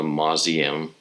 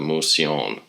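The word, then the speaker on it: Mouseion: with the religious shrine pronounced the mozz IAM or the moseyin the modern word for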